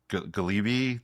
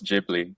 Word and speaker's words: Ghibli: It's the Galibbei. The Galib. Oh, it's Jibli. So, Jibli. Funny enough, I won't get it right.